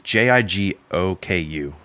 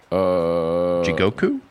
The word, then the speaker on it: Jigoku: It's Jigoku. Jigoku.